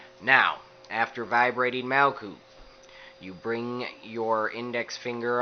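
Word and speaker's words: Malkuth: the ground you vibrate mal coot now this is not the correct spelling per se this is the correct pronunciation and you have this as long and drawn out as possible now after vibrating Mao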